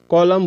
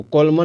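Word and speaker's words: column: मतलब होता है पतझड़ कॉलम बोलेंगे इसको कॉलमन नहीं बोलना है कॉलम कॉलम यानी खंबा कंडेम बोलेंगे जिसका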